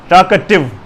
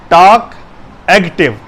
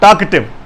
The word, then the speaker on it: talkative: और दूसरा कुछ लोग लिखते हैं TALKACTIVE, टॉक एक्टिव, जो बोलने में ज़्यादा महारत रखता हो, ज़्यादा होशियार हो या ज़्यादा बोलता हो, लेकिन ये गलत है। टॉक एक्टिव नहीं है, लफ्ज़ है, वर्ड है टॉकेटिव, TALKATIVE, टॉकेटिव, बातूनी।